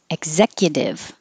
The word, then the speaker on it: executive: So starting with executive, I don't release the K.